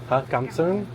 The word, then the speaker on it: Cảm ơn: Cảm ơn.